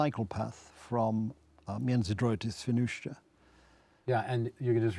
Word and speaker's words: Świnoujście: It's easier if you say it like Sean Connery. Świnoujście. Świnoujście.